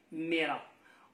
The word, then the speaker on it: Meira: Son nom, Omeira, alors ici, prononcé Mera.